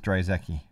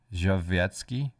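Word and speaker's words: Drzewiecki: That's how you pronounce it.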